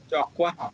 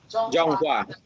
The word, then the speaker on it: Zhonghua: How do you say it? Jokwa? What's it? Zhonghua. Yeah. They also Essentially, yeah.